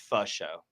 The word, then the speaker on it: Faux: I think it's pronounced pho show. Oh, pho? Yes. Oh, like pho? Yes, like F-A. You got it. Pho? Like the... Pho show. Yeah. Like the food pho?